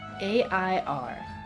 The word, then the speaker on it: air: Alright, in Indonesian, fun fact, water is spelled A-I-R. What do you think about that? And it's pronounced air.